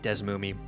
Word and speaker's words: DeSmuME: real pronunciation is how do you say desmumi i say it like des moomie i will i refuse